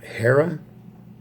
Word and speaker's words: Hera: that's vs the ass now hera is pronounced no h it's a little